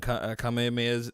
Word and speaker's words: kamehamehas: We'd be throwing kamehamehas. That's the right way to say it in the in the backyard, and just bro, our neighbor, like the neighbor kids.